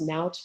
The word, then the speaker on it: Naot: with the company um i think they're actually pronounced naut but it's spelled naot and so it's actually